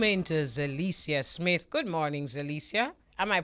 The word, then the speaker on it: Zelecia: Good morning, Zelecia. Am I pronouncing your name properly?